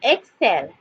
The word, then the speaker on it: excel: with the sauce on the C with the soft sound of C so let's go self so Excel Excel Excel Excel next